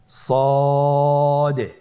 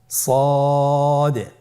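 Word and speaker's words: ص: মোটা হরফ উচ্চারণ ক্ষেত্রে মোটা করে পড়তে হবে এবং উচ্চারণ করার সময় তিন আলিফ টেনে পড়তে হবে আপনারা আমার সাথে বলুন সদ আবার বলুন সদ আলহামদুলিল্লাহ খুবই সহজ সদ হরফের মাখরাজ কোন জায়গা থেকে উচ্চারিত হয়?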